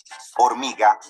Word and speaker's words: hormiga: Te dice, hey, ten cuidado con la H, que es una letra que no tiene sonido. Por eso decimos humo, hormiga y cohete.